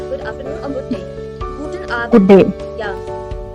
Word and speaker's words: Guten Abend: Yes, you're observing here that D is pronouncing as T. Guten Abend.